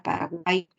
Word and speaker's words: Paraguay: Está acompañada de la U, está acompañada de la I, solamente que esa I se escribe de esa manera. Cuando tú pronuncias la palabra Paraguay, tú escuchas a una I.